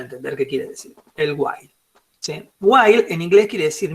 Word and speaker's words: while: Como por ejemplo esta que se escribe así y se dice While Sí lo puse acá en castellano para que no me digan hile alguno este o para que no lo diga por ahí no porque no lo van